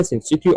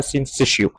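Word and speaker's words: syncytio: اسمها سينسيتيو، او في ناس ممكن تنطقها سينسيشيو، فزي ما تنطق سينسيتيو اور سينسيشيو كل الاثنين صح.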